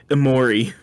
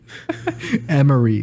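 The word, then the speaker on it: Emory: Sorry, Amori. Emery, please, James. Please, at least pronounce it correctly.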